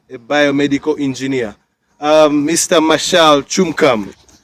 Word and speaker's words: Tchumkam: Martial Tchumkam. Is that how they pronounce the name? Tchumkam? Yes.